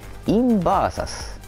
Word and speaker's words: インバーサス: イトルはですね、インバーサスと読みます。